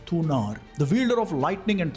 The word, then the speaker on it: Thunar: In fact, in exact pronunciation, it is Thunar, the wielder of lightning and thunder.